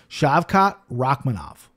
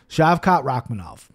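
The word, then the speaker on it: Shavkat Rakhmonov: talented i'm gonna have to learn how to pronounce his name shavkat rakhmanov rakhmanov rakhmanov shav shavkat rakhmanov awesome fight michelle pereira says excuse me plus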